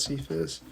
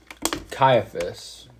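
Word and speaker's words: Caiaphas: cuser I don't know no it's not sephus caiaphus I think I think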